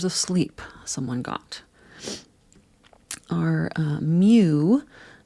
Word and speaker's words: mu: Our mu, it's written mu if we were going to write out the name of the Greek letter mu, but it's pronounced like M-E-W, like a cat.